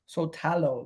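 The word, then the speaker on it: Šutalo: Sotalo, they call him, ladies and gentlemen, Sotalo.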